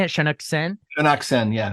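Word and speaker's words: Shaunak Sen: filmmaker um Shan how do you say it shanuk sen shaken yeah shaken yeah so uh it's in Hindi language and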